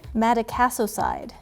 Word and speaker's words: Madecassoside: routine this moisturizer okay so how do you pronounce it Matic a so side Matic a so side cream strengthens your skin